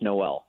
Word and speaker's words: Noel: the Odyssey app and it's pronounced Noel Noel all right uh go